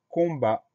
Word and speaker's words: combat: On a un T muet à la fin qu'on va retrouver dans le verbe combattre. Donc, ça permet de s'en souvenir.